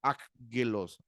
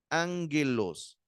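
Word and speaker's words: ἄγγελος: la la pronunciación como aggelos sino se se pronuncia la primera gama se pronuncia como una n Ángelus de esta palabra la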